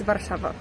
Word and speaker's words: Warszawa: Polish it's Warszawa.